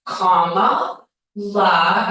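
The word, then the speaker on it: Kamala: even after teaching us all that it was comma LA and I saw some people here with comma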